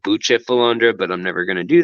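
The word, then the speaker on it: Bucephalandra: colors and leaves to boost the philandra but which is actually pronounced butcher philander but I'm never gonna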